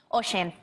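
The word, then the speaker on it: Oisín: Oisin. Oisin. Oisin. Oisin. Oisin. Oisin. Yeah. How do you think that's pronounced?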